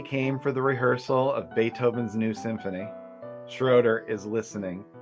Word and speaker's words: Beethoven: right on the podcast but it's pronounced beethoven oh of course